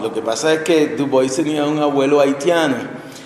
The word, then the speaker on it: Du Bois: Du Bois, que pronunciamos Du Bois en Estados Unidos porque es donde él nació y donde desempeñó la mayoría de su trabajo intelectual y político. Pero pues en francés sería Dubois, y lo que pasa